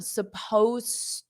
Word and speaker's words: supposed: Supposed to. So you don't pronounce that ed. Supposed to. So you go from the s to the t of to.